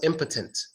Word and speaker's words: impotent: in the first word an impotent gives the schwa sound that Oh gets the schwa sound so it becomes impotent impotent but it doesn't get the swats out in the second word is potent potent or opponent even potent in